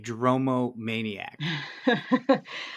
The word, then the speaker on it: dromomaniac: go to your other passion what is a dromo maniac I get that question a lot I'm sure you can imagine and did I pronounce it correctly yes you did and a